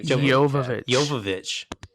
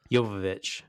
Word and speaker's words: Jovovich: Speaking of Milla, is it not how you pronounce her last name? Is it Joe? I want to hear you. Jovovich. Jovovich.